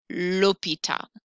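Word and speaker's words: l'hôpital: lordinator la mi and that h is silent so i'm going to say lopita the point of the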